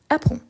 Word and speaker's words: apprends: On ne prononce pas ni le D ni le S. Ici, on a juste le D. Donc apprend, apprend, apprends. Ensuite, on a nous.